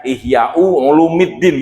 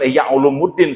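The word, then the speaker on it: إحياء علوم الدين: Bapak bacanya harusnya Ihya Ulumuddin gitu, jangan Ihya Ulumuddin, salah. Karena apa? Harusnya ulumi itu mudhof. Mudhof itu hukumnya adalah majrur. Wa alamatu jarihi kasrotun zahiratun fi akhirihi wa huwa mudhof. Ulumi mudhof kepada ad-din. Gitu, Pak.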